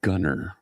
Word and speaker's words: Gunnar: It's pronounced Gunnar.